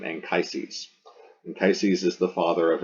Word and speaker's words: Anchises: So that's Anchises in English. We say his name Anchises.